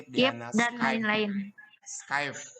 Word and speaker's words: Skype: Video conference, Zoom Meet, Google Meet, Bukan skip, Skip, Diana, dan Skype. lain-lain. Skype, bukan skip. Oh, Ya nggak salah apa-apa. ya. Tapi nanti bacanya bukan skip ya Skype.